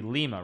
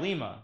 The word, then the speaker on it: Lima: It's lima bean, but yes, the capital is Lima, yeah.